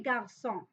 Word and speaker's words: garçons: So for here, for example, we have le garçon, des garçons. But we don't pronounce this S.